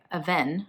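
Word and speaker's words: Avène: I came across by a venn I called it a Veen in my last video it's French brand and I pronounced it wrong shout-out to like the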